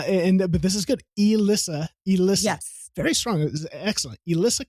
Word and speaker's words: Elisa: Uh, is pronounced Elissa. E Elisa. Elissa.